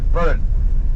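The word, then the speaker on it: Burren: So we're coming down into the burn now, and that's spelled B-U-R-R-E-N, burn, and sounds very much like the English word barren with an A instead of a U, and it certainly will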